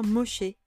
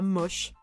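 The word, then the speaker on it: Moshe: était borgne du coup ça se prononce bien Moché c'est Moïse en hébreu et pas moche j'y tiens mis à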